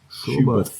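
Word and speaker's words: Schuberth: And I think Was it how do you pronounce it? Is it Schubert? Schubert.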